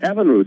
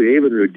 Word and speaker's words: Evinrude: Lauren Evinrude, did you invent the motor?